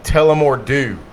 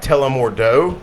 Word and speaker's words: Tullamore Dew: It's called Tullamore Dew. Yep. It looks like Tullamore Dough, Yep.